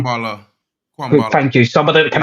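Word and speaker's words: Kambwala: Kwambala. Thank you. Somebody that can actually pronounce it, not me.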